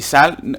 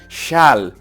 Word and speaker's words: Schal: Entonces SCH, recordar que era una doble S, no digas una S nada más, porque si no dirías welche Schal, y Sal está mal dicho, es Schal, Sal, Schal, Sal, Schal. Alargo la S, Schal, no Sal, Schal.